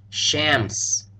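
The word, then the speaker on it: شمس: Sheen and a scen pronounce this word Shams remembering to make the a sound more of a short a and not an ah as in like and Shams take special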